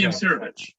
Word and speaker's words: Imsirovic: And maybe Ali Imirasov. I always can't pronounce. Ali Imsirovic. Imsirovic.